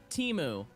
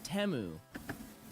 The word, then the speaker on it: Temu: exist obviously but two that it's not pronounced Teemu oh man what's update forever but it's temu teu t I still